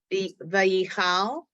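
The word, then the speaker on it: ויכל: Vayichal, Vayichal. Vayichal, Vayichal. It's not an E, it's the silent Vay- vowel.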